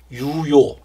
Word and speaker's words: 유요: 사실 받침이 없는 이름이 사실 어렵더라고요. 그래서 지금 생각나는 이름은 뭐 유요. 네, 이런 발음이 사실은 이 입모양을 정확하게 해서 발음을 해야 되는데 어렵더라고요. 유요 하니까 전달도 잘 됐는지